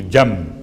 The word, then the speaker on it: جنب: جیم نون بے، چونکہ تجوید کے قاعدے کے لحاظ سے آپ کو تلفظ میں میم کی آواز محسوس ہوگی، جم، حالانکہ جنب ہے۔ اس کا ترجمہ کیا ہے؟